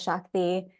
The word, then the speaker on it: Shakti: My name is Shakti.